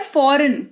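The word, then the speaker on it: foreign: शब्द जी के तुरंत बाद अगर एन लगा हुआ आपको दिखता है तो उस केस में जी जो है वो साइलेंट हो जाता है। ठीक है? उदाहरण के तौर पर देखिए आपको पता है कि यह लिखा हुआ है फॉरेन।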